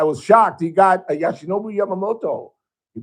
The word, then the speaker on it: Yoshinobu Yamamoto: And I was shocked, he got a Yoshinobu Yamamoto. He pronounced it correctly.